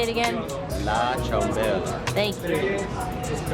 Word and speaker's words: ciambella: La ciambella.